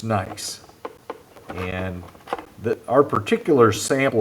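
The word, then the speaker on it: gneiss: GN you say say nice even though you might be tempted to pronounce the G you don't pronounce the G so it's just nice and the our particular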